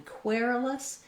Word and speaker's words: querulous: word request was querulous we have first syllable stress and even though this looks like the same spelling as query or question you can hear those vowels are all different in query-less it's the air diphthong so i would build